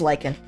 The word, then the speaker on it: lichen: feeds upon moss and lychen. Is it lychen or lichen in the caves above Bone Bottom? But let me figure out once and for all how I pronounce this thing. Okay, it is Lykan.